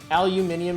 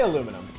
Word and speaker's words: aluminium: Aluminium is the original pronunciation. I'm fond of it. I say aluminum. Don't get it twisted. I actually say aluminum, but I just think aluminium's really funny.